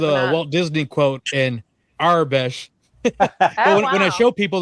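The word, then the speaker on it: Aurebesh: my tongue works, but I just say Arabesh sometimes. And that's the battle. Every time I use two syllables, the 3-syllable community attacks.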